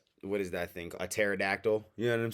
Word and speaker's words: pterodactyl: A pterodactyl. You know what I'm saying? That's spelled all weird. Pterodactyl starts with a P for any of those who didn't know.